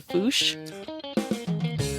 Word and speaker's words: fossa: but then if you go to Britain, the pronunciation is the FOOSH.